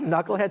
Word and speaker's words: knucklehead: Do you think knucklehead starts with an N? No, I think the person who did it had their encyclopedia out going, oh, the K is silent on that one.